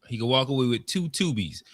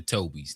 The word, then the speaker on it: Tubies: He can walk away with two Tubies, not to be phonetically mistaken as the Tobies. This is not the Toby Awards.